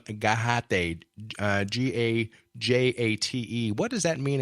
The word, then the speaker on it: Gajate: But that's Gajate.